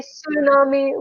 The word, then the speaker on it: tsunami: you all remember that the T in tsunami is silent so we renounce it as if it starts from s excuse me we say tsunami we do not pronounce VT in English I think I'm done